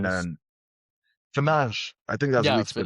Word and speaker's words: Fernandes: is Bruno Fernandez. Fernandes. Fernandes. I think that's the way Yeah, it's pronounced, but yep, we yep, call it Fernandes.